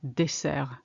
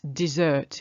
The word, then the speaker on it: dessert: Watch out for the first one, dessert. It's dessert in English. And actually you shouldn't say dessert because it's got a double S.